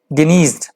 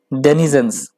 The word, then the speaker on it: denizens: The disease डेनिज्ड, माफ कीजिएगा, डेनिजेंस, माफ कीजिएगा, प्रोनाउंसिएशन में थोड़ी बहुत ज्यादा गड़बड़ हो गई.